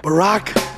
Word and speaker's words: Barack: really you know deliberate Barack Hussein Obama his first name rhymes with Iraq his middle name is